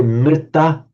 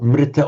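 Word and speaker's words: mṛta: Generally speaking, in modern India, you would hear, for example, the re, pronounced like a re, people, or sometimes a ru even. So we say mrita, meaning dead, or mrita or mrita, you'll sometimes hear.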